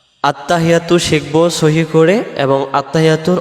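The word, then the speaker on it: التَّحِيَّاتُ: আমরাদের উচ্চারণে আত্তাহিয়াতু আত্তাহিয়াতু আত্তাহিয়াতু হা জের হি ইয়ার পরে তাসজিদ আসছে এই তাসজিদটা সহ আদায় করার জন্য বলতে হবে আত্তাহি এমন আওয়াজ হবে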